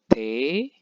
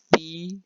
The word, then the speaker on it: Tee: Kemudian der Tee, itu bacanya bukan T, melainkan T, E-nya panjang.